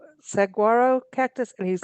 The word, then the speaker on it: saguaro: said saguaro cactus, and he's like, Lisa, Saguaro.